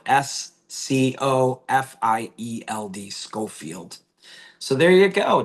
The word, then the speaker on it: Scofield: It's spelled S C O F I E L D.